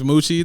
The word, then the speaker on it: Muchi: My name's Moochie. That's Muchi. It's pronounced the noise of a cow and half of cheese.